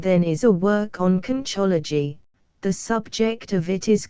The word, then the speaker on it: conchology: Yes, and this is it, pronounced conchology, and derived from the Latin concha, which means properly a shellfish with two shells, joined by a hinge, as the oyster, the cockle, etc.